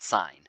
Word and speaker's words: sine: then they say the sine of T so this is it looks like sin but we would say that's an e sine of T is how we say that they're saying that is